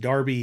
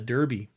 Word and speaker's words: Derby: They pronounce it as we would pronounce it, Derby, because it's spelled D-E-R-B-Y. And in England, that's pronounced Derby. Here, it's Derby.